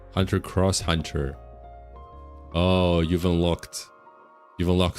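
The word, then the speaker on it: Hunter × Hunter: X typically means cross in Japan, but some Digimon creators feared it would just be called X heart. So they put the uh Ross to avoid the same trap that Hunter ex Hunter fell into. Oh, Hunter cross Hunter.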